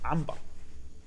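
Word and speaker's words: عنبر: no ambar say everyone writes ambar with a meme at this point like so many people write with a meme no it's a noon it's but no one will say it's ambar that's naturally how you say it even in English by the way like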